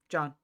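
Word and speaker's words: Siôn: The reason they asked how to pronounce it, is because the Welsh spell it as it looks like Sean, but it's John.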